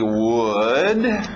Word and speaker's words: would: Mesma pronúncia que nós vimos com could, lembra? Não erra essa pronúncia, é a mesma coisa que good, aquele som do soco na barriga. Good, could, would, ok? Sim, é a mesma pronúncia de madeira, would, ok?